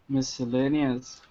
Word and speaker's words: miscellaneous: on a Kenny pronounces miscellaneous see tinchy easy Oh Petrie salerno's missile Sal like so like a prison cell you know miss l